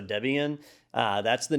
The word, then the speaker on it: Debian: was named after slapya it was named after the original developer and his wife at the time so it was debra and ian so debian uh that's the name